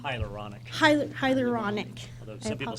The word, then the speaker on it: hyaluronic: Hyaluronic.